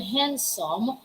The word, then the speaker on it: handsome: it's not handsome and as you pronounce the word handsome the letter d there you shouldn't pronounce that all right but there seems to be a little letter t or top letter t is in pickle there's a little little t sound there after the the syllable hand it's like handsome handsome also we have heard